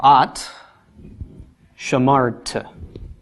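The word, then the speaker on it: אַתְּ שָׁמַרְתְּ: All right, the feminine is spelled the same, but with a vowel change. Comments at the end changes to a shva. So at shamart.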